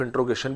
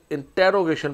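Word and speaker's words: interrogation: आर you fond of singing, तो यहाँ पर हम साइन ऑफ इंट्रोगेशन भी डालेंगे। अक्सर लोग इसे इंटेरोगेशन प्रोनाउंस करते हैं, this is wrong pronunciation. So this is इंट्रोगेशन, आर you fond of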